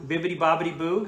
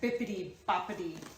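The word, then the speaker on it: Bibbidi-Bobbidi-Boo: Bibbity bobbity boo. Did I say it wrong? I thought you said bippity, boppity.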